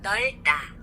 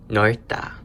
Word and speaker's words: 넓다: And the last example we have is 넓다. 넓다, which is to be wide. So for this one, we hear the D consonant.